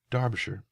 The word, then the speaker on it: Derbyshire: he got into the the pronunciations of of Derbyshire which is where he's from Derbyshire which I have always heard pronounced darbishire so yeah that's the way I learned it